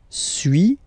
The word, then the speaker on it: suis: Okay, so first one, sui, as you've been noticing, you don't pronounce the final S, okay?